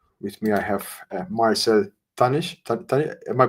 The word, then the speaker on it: Tannich: ask us today with me I have Marcel Tanish tan am I pronouncing it correctly Marcel hi yes it's